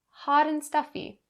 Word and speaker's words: hot and stuffy: mind for this phrase the first one being the connecting between hot and and that t sound changes to a d because it's in between vowels and you'll bring that sound over in front of and ha dan haaden hot and stuffy hot and stuffy